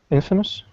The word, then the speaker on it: infamous: paragraph 4 that means famous for a bad reason Infamous Infamous yes Infamous the emphasis is on the in Infamous Infamous when we say